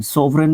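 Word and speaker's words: sovereign: सोववरन एस ओ वी ई आर ई आई जी एन सोवरन इसको pronounce करते हैं।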